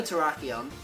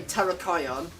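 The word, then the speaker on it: Terrakion: But yeah, and that this goes the same for Traion or sorry, should I say Terraion.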